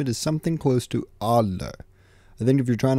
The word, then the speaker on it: Adler: To pronounce the simp's name, it is something close to Adler.